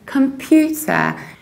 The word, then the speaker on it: computer: same thing happens here we say computer you stress pew like puking meaning vomiting pukes computer